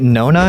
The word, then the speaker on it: NoNa: you're doing with water desalinization uh is it Nona is that how you pronounce it yes yes so it's some it's